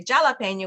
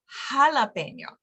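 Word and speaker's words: jalapeño: but we don't say jalapeno we say jalapeno so since the letter H is silent the J actually makes the H sound okay so like the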